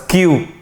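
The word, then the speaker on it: queue: بقى طابور ها بص كل ده سايلنت ما عدا اول حرف بس كيو ها حرف الكيو هننطنق الكلمه دي كيو كيو كيو طب والكلمه دي عشان خاطري انت بتقول الايه؟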